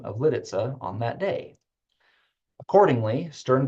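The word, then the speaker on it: Lidice: most Americans happily began calling the new town Lis while Time Magazine reported that the Czech Consulate in Chicago gave the official pronunciation as litza in Juliet they pronounced it the new subdivision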